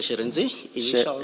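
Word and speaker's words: Shirindzi: Sherenzi. What? Sherenzi. Sherezi. Yes. Initials. Sherezi. Sherenzi, yes, Commissioner. It's spelled S-H-I.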